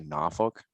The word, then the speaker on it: Norfolk: were leaving norfolk and is it north folk that is how it's spelled if you're local to the area some people say norfolk which is kind of like new orleans um yeah it's just